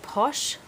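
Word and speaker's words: Poshé: And our second trial today is going to be from, well, I'm going to pronounce it Posh, but you can pronounce it however you want. It's P-O-S-H, and the E has a little thingy over the top.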